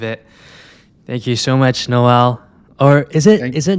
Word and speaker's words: Noelle: it's so it's actu the way it's spelt is noelle but it said no and i think that is purely because no one could ever say noel i think in south africa and so it just